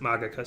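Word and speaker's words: Ars Magica: but he also designed ars magicka or ars magicka although jonathan tweet pronounces it magika so i tend to go with that why is it that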